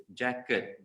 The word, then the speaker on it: jacket: When you say jacket, oh jacket, okay? The t sound tu, it makes a lot of difference because ada banyak words in English bunyi lebih kurang, tapi satu end with T, satu end with D. If you don't pronounce it carefully, people might think it's the other word.